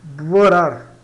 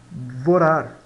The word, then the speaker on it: borrar: Vorar, mais ou menos assim, tá? Vorar.